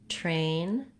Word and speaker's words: train: The words try and train don't really have a ch sound, but the reason this was asked is that probably the speaker was mispronouncing those TR sounds and noticed that when they used something more like a CH sound, they were closer to correct.